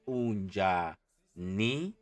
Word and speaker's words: unjani: And how you spell it correctly or how you pronounce it correctly is unjani, right?